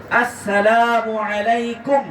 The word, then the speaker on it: আসসালামু আলাইকুম: আমার সাথে কয়েকবার মস্ক করেন মস্কো বোঝেন তো উচ্চারণ করেন আসসালামু আলাইকুম আসসালামু আলাইকুম আবার সবাই বলেন আসসালামু আসসালামু আসসালামু